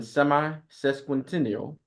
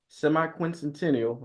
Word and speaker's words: semiquincentennial: Flagship us at 250 initiative marketing the nation semi sesquential semiquincentennial I said it right and a contributing colonist